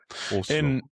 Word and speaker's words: Oslo: How do you say Oslo in Norwegian tongue? Oslo. Oslo. Okay. Oslo. Oslo. In Oslo, they say Oslo. Oh, okay. Sounds the same.